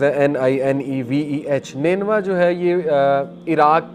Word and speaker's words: Nineveh: تو ادس نے کہا کہ میں نینوا سے ہوں۔ نینوا اس کا تلفظ ہے NINEVEH۔ نینوا جو ہے یہ عراق کی ایک سٹی